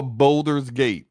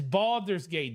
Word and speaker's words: Baldur's Gate: whatever let's talk about Boulder's Gate it's Baldur's Gate don't say it like